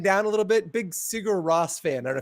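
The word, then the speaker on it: Sigur: a little bit big sigar Ross fan I don't know if you guys know this oh I remember cigar I thought it was sear it is sigar Roose sorry it's correct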